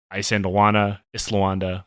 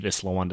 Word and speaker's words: Isandlwana: war, the Battle of Isandlwana, whichever. I've heard it pronounced both ways. I believe Islawanda is correct.